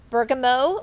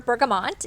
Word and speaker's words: bergamot: to be talking about bergamo or bergamot essential oil depending on how you pronounce it we'll be talking